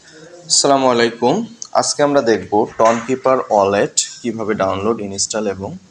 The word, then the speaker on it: Tonkeeper: আসসালামু আলাইকুম আজকে আমরা দেখব টনকিপার ওয়ালেট কিভাবে ডাউনলোড ইনস্টল এবং ওয়ালেট ক্রিয়েট করতে